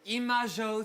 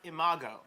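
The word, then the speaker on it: Imago: have a great night congratulations to imajo theater Adam be respectful it's pronounced IMO oh sorry uh we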